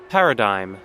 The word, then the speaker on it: paradigm: please be fine par Paradigm parad why is why is it spelled with a G why is there a g there if it's silent why is it not spelled D i m e huh a typical example